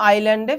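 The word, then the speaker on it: island: তখন আমরা আবার আমাদের প্রিয় আইল্যান্ডে ফিরে যাই। আইএস আছে। এস এর উচ্চারণ হবে না। আইল্যান্ড হবে।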